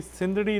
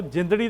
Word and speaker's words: सिंधड़ी: जो सिंगर्स होते हैं कई बार वो जिंदड़ी दा कह देते हैं, लेकिन आप एग्जैक्ट प्रोनाउंस कर रहे हैं क्योंकि ये हाँ जी, सिंधड़ी का ही वर्ड है, सिंध में वो हुए